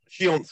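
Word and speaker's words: Książ: to the uh picture for a minute so shance Castle it is pronounced shance although it's PR spelled KS I a z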